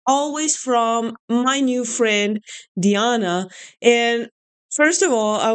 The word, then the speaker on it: Diana: I basically speak English the entire day, so for me it was Diana. I don't even know why I didn't think it could be the Latin pronunciation Diana. Like I'm Italian, I should have known. So I'm sorry if I mispronounced it. Now I know that it's Diana.